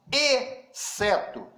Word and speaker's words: exceto: Perceberam que eu falei exceto? Eu não pronunciei o X, porque XC é dígrafo.